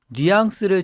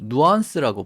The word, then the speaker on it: nuance: 이세 번째 범주에 보면 뉘앙스를 제대로 안다라는 말이랑 그다음에 subtlety 보통 우리는 뉘앙스 이렇게 하지만 발음 영어로 발음할 때는 nuance라고 보통 이렇게 발음을 해야 되죠.